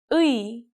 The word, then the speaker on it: 의: For example, the sound of 의 is easy to catch because it goes from 으 to 이.